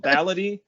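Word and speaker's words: baladi: show you copy because it's called ballady but it's spelled b-a-l-a-d-i um and that's like the arabic word for like local so like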